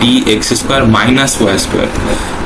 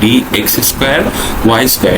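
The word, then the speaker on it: dx²-y²: ভুল উচ্চারণ করি যে ডি এক্স স্কোয়ার মাইনাস ওয়াই স্কোয়ার, কিন্তু এই মাঝের এই চিহ্নটা কিন্তু কোনো বিয়োগের চিহ্ন না, বরং এটা হচ্ছে একটা হাইফেন।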